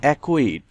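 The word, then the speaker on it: acquit: অর্থ বাধা দেয়া এ সি কিউ ইউ আইটি একুইট এখানে সি কিউ থাকায় সি এর উচ্চারণ হয়নি। একুইট অর্থ নির্দোষ প্রমাণ করা।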